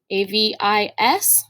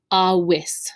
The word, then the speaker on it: avis: of getting used to this letter in classical latin is always going to be pronounced like a w there is no w